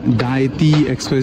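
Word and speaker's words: Dajti Express: देखो cable car का डायती एक्सप्रेस उसको बोलते हैं जे को इन लोग साइलेंट करते हैं मतलब जैसे स्पेनिश रीड करते हैं वैसे ही टाइप का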